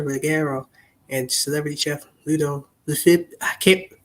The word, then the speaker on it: Lefebvre: and celebrity chef Ludo Lefib. Michael, help me with this last name. Ludo. Michael? Can't pronounce this guy's last name. Lefebvre. Yeah, okay.